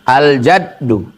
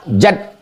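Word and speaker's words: الجد: dipahami dalam hadis ini aljaddu Allah Al manad Jim cara membacanya jimnya baris Fatah jad artinya alhuu artinya beruntung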